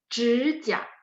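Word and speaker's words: 指甲: 指甲. 指 nya ada 3 ya. 指甲. 指甲 itu kuku ya.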